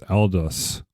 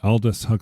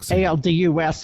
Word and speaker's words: Aldous: pronounce his first name I want to say it's eldos all this just all this okay Aldous aldus even though it's not spelled that way gotcha yeah Aldous Huxley